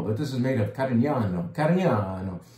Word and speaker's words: Carignano: It doesn't say it on the label, but this is made of Carignano.